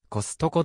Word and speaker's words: コストコ: コストコであるまた一般的に日本語ではアクセント核を持たない平板がダークセントでコストコと発音されているこれに対して